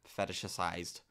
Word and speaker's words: fetishized: Okay. Fetishized. There's an extra syllable in there.